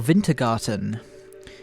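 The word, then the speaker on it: Wintergatan: by moroda uh by wintergarten or vintergarten i i was just thinking in my head i need to remember to pronounce the w as a v um that i just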